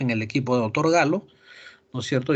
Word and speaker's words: Gallo: Galo, ¿no es cierto?, o Gallo como nosotros decimos, ellos pronuncian Galo, ¿no es cierto?, en la Universidad de Los Ángeles, me parece, ¿no es cierto?, o California, perdón.